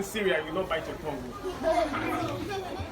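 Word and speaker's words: Cyril: Okay, so it's actually cereal, but it's not the cereal you eat. So that's why I don't like when you call it. Because if they say cereal, they'll think it's the normal cereal like this. The one you eat like golden milk cornflakes, but I'm not edible, right? Yeah, so, but it's the same pronunciation.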